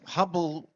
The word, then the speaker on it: Hubble: Okay, we got Hubble actually rhymes with trouble.